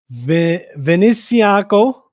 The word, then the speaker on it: Venezianico: All right, so I'm gonna try to pronounce this company right now. VENEZIANICO.